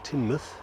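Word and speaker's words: Teignmouth: to nexmouth and from there dawlish warren team tinmuth as it turns out to be pronounced mounted tall key grandskill beyond ah i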